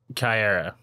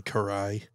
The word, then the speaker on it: Karai: Leonardo and like homegirl's name who I'm gonna mispronounce, but Kyara. I thought I was gonna mispronounce it. Considering we had a bit of this conversation earlier, I'm going to assume you mean Karai.